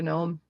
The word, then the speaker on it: gnome: coming out of a gnome Courtney did you say gnome many times yes I did more fun to pronounce the G and gnome why do you have